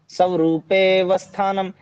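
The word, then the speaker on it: स्वरूपेऽवस्थानम्: हाँ, स्वरूपेवस्थानम्। स्वरूपे पे के बाद सीधा व पे आ गया आप। ठीक है, ए साइलेंट हो जाएगा फिर यहाँ पे।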